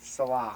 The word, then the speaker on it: Saleh: And my favorite guy at the defensive coordinator, I wish I could say his name, Robert Salah. Yeah. Something like that. It's Robert Saleh.